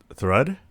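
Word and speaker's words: Thrud: Thud. That's okay. Thud. That's how you pronounce it.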